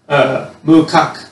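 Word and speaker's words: macaque: Okay, so makake, or monkeys, mukak is how you would pronounce it, as, or monkeys, live in the snowy mountains.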